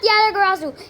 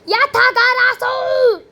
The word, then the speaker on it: Yatagarasu: This is not Yatagarasu. This is literal. Not Yatagarasu. Yatagarasu! Because that's the actual pronunciation.